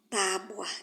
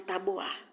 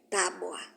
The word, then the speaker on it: tábua: Tábua e não tabuá. Tábua.